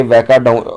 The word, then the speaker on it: Weka: वैका के स्पेलिंग है WEKA, वैका।